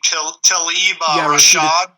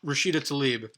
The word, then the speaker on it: Rashida Tlaib: Tlaib Rashad? Rashida Tlaib.